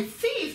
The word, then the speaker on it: thief: はい、 thief っていうのはこう th 発音ですね。